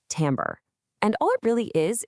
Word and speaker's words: timbre: It's pronounced tambber.